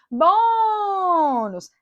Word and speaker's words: bônus: Bônus. A sílaba tônica é o bom.